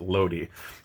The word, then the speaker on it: Lodi: so here's lodi lodi i actually looked up how the italians pronounced that they pronounced it lodi um or more or less anyway lenato vermser's missed